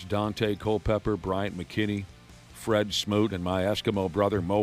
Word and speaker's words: Fred Smoot: Fred Smoot.